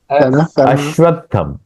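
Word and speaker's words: अश्वत्थम्: होगा सही बात है अश्वत्थम असत असत नहीं तो क्या अस्वस्थ होगा अस्वस्थ मतलब बीमार अर्थ बदल जाएगा उसका अर्थ नहीं बदलना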